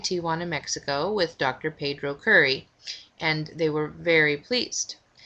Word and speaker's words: Kuri: Curry, which you can do. Just do a Google search for Dr. Pedro Curry, Pedro, and his last name is spelled Kuri.